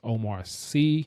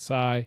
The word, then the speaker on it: Omar Sy: The name is pronounced is Omar Sy, not Sy.